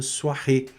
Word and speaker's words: soirée: para ela um bonne soirée, com a mesma pronúncia aqui, olha, O mais I da soir, né? Soirée, também aqui fechou, né? Com acento agudo no E, fecha a pronúncia.